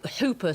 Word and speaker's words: Whooper: It's particularly the Hooper swan. It's written Whooper, but I pronounce it Hooper swan, yeah.